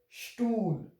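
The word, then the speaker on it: Stuhl: So here it will be pronounced as stool.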